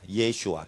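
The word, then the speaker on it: ישוע: 히브리어로 예슈아 이렇게 합니다 예슈아 이게 그 예수님의 히브리 발음입니다 예수 스는 이제 헬라의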